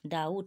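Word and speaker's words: doubt: ডি ই বিটি date ডাউট এখানে কিন্তু বি এর কোন উচ্চারণ নয় ডাউ বট বলছি না কিন্তু কি বলছি ডাউট ডি ও ইউ বি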